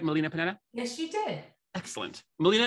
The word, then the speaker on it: Melina Panetta: am and today I have with me Molina Panetta did I pronounce that right Molina Panetta yes she did excellent Molina is a success